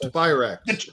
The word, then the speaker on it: Tyrax: I think, would you say Triax or Trax? I'm thinking Trax. Tyrax. It's Tyrax. It's pronounced Tyrax.